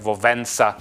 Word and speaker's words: Wałęsa: It's pronounced more like Wałęsa.